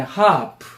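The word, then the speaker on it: half: 그다음에 하프 하 리 발음이 돼요, 안 돼요? 안 돼요. 어려운 말로 무음이라 그래야 소리 안 난다.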